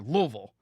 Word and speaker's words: Louisville: It's a 2-syllable word, Louisville.